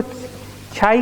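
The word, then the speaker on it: χ: है न्यू पाई रो sigma omega ताऊ इसको छाई कहा जाता है क्या बोलते हैं चाहिए और यह तुम्हारा साइज 30 साइलेंट है ऐसा कहा जाता बल्कि लेट लिखो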